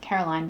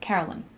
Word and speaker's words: Carolyn: I pronounce it Caroline, but she pronounces it something like Carolyn, but really fast.